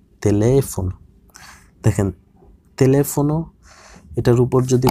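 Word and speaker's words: teléfono: তারপর টেলিফোনতে দ্বিতীয় ইটার উপর তিলদে দেখা যাচ্ছে এটার উচ্চারণ হবে তেলেফোন।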